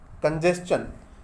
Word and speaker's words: congestion: उसके बाद एक वर्ड और देखिएगा, इस शब्द का सही प्रोनाउंसिएशन क्या करेंगे, कंजेस्शन। कंजेस्शन, CONGESTION, कंजेस्शन होता है।